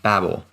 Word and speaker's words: Babel: about the Tower of Babel. Babel. It's actually Webster's Dictionary. You can pronounce it both ways.